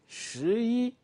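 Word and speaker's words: 十一: 10 will be shi. We saw it. Shi. And 1 is yi. So to say 11, you just say shi yi.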